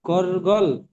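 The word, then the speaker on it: gargle: কিন্তু জি ওয়াইপটা হচ্ছে এটা শুদ্ধ উচ্চারণ। এই, আচ্ছা, এটুকুর মধ্যে কারো কোনো জিজ্ঞাসা করার আছে? এতটুকুর মধ্যে স্যার, এটা কি গরগল গার্গল, নাকি গার্গল বলছিলেন?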